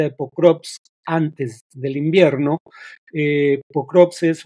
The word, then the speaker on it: Pokrovsk: Pokrovsk o Pakrovsk, algunos lo pronuncian con A, pero se escribe con O.